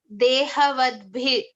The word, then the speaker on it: dehavadbhir: B as in Bha as in Bhagavad Gita. Bha. So Dehavadbhir.